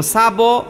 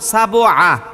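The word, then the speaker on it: سبع: হ্যাঁ, তাহলে এখানে দেখেন, আমি যদি বলি এইরকম সাবো, সাবো আ, তাইলে ভুল হলো, সাবো হয় না, সাবে, সাবে।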